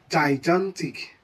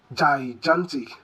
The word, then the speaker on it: gigantic: Next, this word is wrongly pronounced as gigantic. Gigantic. Now, why is this wrongly pronounced this way? Well, the two G's are mistakenly pronounced with the same sound. G, G, gigantic.